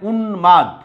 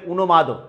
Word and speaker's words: উন্মাদ: তারপরে উন্মাদ, উন্মাদ, খেয়াল করে এখানে নয়ের নিচে হসন্ত আছে, দয়ের নিচেও আছে। আবার যদি দয়ের নিচে না দিই তাহলে হবে উন্মাদ, উচ্চারণ ভুল হয়ে যাবে।